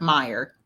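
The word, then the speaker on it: Meijer: I think it's like Meyer.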